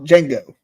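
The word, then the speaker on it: Django: d d cal cal Jango Jango because the D is silent right in that [ __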